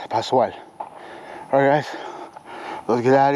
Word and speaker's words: Pascal: If you see an S and a C, it's just like a super S, Pascal.